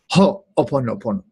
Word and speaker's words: ho'oponopono: Dev's going to get on to me later for not pausing and putting the emphasis precisely, because she's Hawaiian. Ho'oponopono.